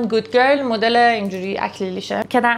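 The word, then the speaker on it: Good Girl: عطر بعدی این عطر پرولین رع ایتالیا اینجوری تلفظش می‌کنن گود گرل مدل اینجوری اکلیلیشه که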